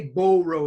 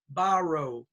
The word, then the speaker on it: borrow: it's short middle bar oh don't say bull row it's not borrow its ba-ba-ba-ba borrow borrow supper supper so all